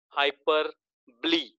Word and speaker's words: hyperbole: Next is 17th number, figures of speech, hyperbole, not बोले. O को silent रखा जाता है. Actually, O is silent.